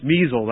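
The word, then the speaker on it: Miesel: I heard Miss Measles, actually is the correct pronunciation of her name, talk about Bella Dodd.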